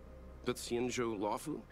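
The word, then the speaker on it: Luofu: guys heard of the Lau that's how you pronounce thato Lau it belongs to the hexa fleet of the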